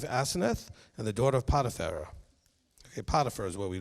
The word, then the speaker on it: Potiphar: And he gave him as a wife Aseneth and the daughter of Potiphar. Okay, Potiphar is what we normally pronounce that, okay? Potiphar.